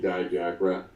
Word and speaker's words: Dijak: Most people call me Dijak as opposed to Dijak, which I think most of my relatives actually pronounce the last name Dijak. But my parents always chose to pronounce it Dijak, and I think that sounds cooler anyway.